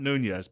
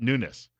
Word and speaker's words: Nunes: office at newness so not Nunez but newness he explained that his